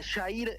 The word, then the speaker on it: Yair: Jair, ¿cómo estás? Jorge Pamela, te saludamos. Hola, Jorge Pamela. Yair es como se pronunció mi nombre. Es medio complejo, pero pero se pronuncia así.